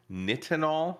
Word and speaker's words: nitinol: Signal Stick antennas are made from nitinol, I believe it's pronounced. That's correct.